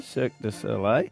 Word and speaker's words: Cirque du Soleil: The how do you pronounce it again? Cirque du Soleil. Cirque du Soleil.